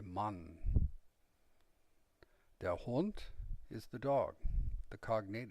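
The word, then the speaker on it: Hund: they say man the hunt is the dog the cognate is hound the final d is pronounced very much like a t and the u is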